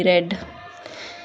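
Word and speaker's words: read: वाज the novel being रीड की third form क्या होती है रेड होती है ना आर ई ए डी रेड लिखते ऐसे ही हैं बट प्रोनाउंस इसको रेड करते हैं वाज द नोवल बीइंग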